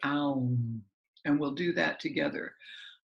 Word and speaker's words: aum: And then we'll resolve the three-part practice with a seed syllable of A-O-U-M. Okay, aum.